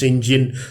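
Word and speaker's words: St John: along with his sister Marion Janus and John pronounce Sinjin serve as the James benefactor after she runs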